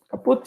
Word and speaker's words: kaput: Kaput, yes, the correct pronunciation. German word. Yeah, German word. Kaput, okay. Yes, that's actually a German word, kaput.